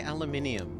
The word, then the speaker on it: aluminum: some leftover beans inside how do you say aluminium Mari aluminum ah you say it the American way okay I think so